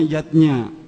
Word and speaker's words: yajna: lima macam selamatan yatnya tulisannya yajna Ayah Bunda tapi membacanya yatnya yang pertama adalah dewayatnya diwayatnya